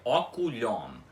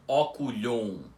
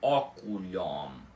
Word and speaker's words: oculhom: agora já sabem que o M é sempre pronunciado e o O continua com o som aberto dele. Ou seja, a pronúncia correta da palavra é oculhom e não oculhon com esse ó nasal antes do M.